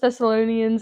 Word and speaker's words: Thessalonians: myself together I will say it wrong first Thessalonians and second Colossians second Colossians is very important